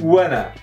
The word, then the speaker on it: wanna: Primeiro, a Anitta reduziu one e o to em wanna.